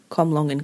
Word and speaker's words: Comlongon: So from what I can tell, the people at Comlongon Castle called it Comlongon Castle. So that's how I'm going to proceed.